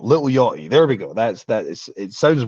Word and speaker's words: Lil Yachty: There's a rapper called Lil Yachty, and I have to I've it's tough for me being Scottish because I have to either commit to pronouncing the T or or not. Lil Yachty.